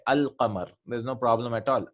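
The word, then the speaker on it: الْقَمَرُ: And Al-Qamar, this is Al-Qamar. The letter Lam is pronounced in this.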